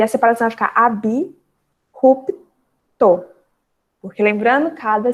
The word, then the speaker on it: abrupto: Na palavra abrupto, que também a gente às vezes acaba falando abruptamente ou abrupto, mas a pronúncia correta é abrupto, porque existe sim a separação, já que o A,